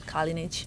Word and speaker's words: Kalinic: And they pronounced your name properly, and they said Kalinic.